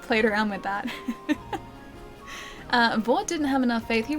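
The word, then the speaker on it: Vordt: There was a D in there, though. It was like V-O-R-D-T. So, like, Vort in Dark Souls is spelled V-O-R-D-T. So we, like, played around with that. Vort didn't have enough faith.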